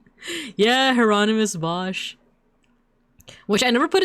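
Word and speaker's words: Hieronymus: Heronomous Bosch, which I never put it together that the uh I guess Spanish or Italian way to say his name is Geronimo or Honimal, right?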